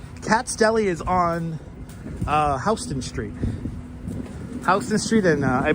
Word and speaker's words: Houston Street: Exactly, Houston. We don't pronounce it Houston.